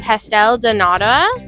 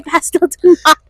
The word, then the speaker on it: Pastel de nata: Pastel de nata. Oh my gosh. Got it? The pronunciation.